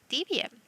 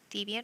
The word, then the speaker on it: Debian: Now, we can look at networking and Debian. So in the case of Debian or Debian, depending on how you want to pronounce it.